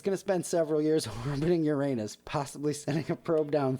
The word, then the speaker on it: Uranus: probe headed for uranus it's pronounced uranus but who the hell cares why would you ask